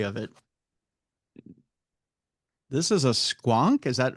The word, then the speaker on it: squonk: This is a squon. Is that how it's pronounced? Yeah, it's squonk.